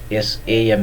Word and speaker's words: same: SAME, it is not samey. It's not, it is same. It should be pronounced as same.